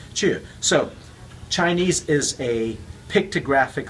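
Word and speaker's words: 去: Now, depending on your dialect, you pronounce lai, chu, or in my dialect, my home dialect is Cantonese. It's loi, hui. So it sounds very different. So in the Mandarin dialect, this is pronounced lai, chu.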